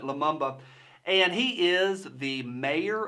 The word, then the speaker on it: Lumumba: I it's a mouthful I did double-check that but you pronounce it Lumumba and he is the